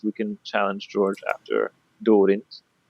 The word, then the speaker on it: Daarinth: And he says, is there an order or list we can challenge George after Daarinth? That's not how you pronounce his name. It's Daarinth.